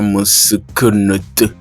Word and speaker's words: Meskhenet: Et puis nous avons à la fin la lettre T qui se prononce T ou Ta. Alors cela, lorsqu'on prend donc le mot en entier, on a meskenet qui donne mesinke ou mesinko n T ou Ta.